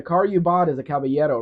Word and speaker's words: caballero: Caballero. Like c a b a y e d o, Caballero.